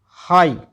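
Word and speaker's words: high: यदि किसी शब्द के अंत में जी एच दे रखा हो तो जी एच साइलेंट रहता है। एच आई जी एच हाई पूरा ही साइलेंट हो गया ये तो ठीक है।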